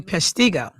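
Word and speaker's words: Peshtigo: So, in uh Pesiggo, Wisconsin, I'm assuming that's how you pronounce it.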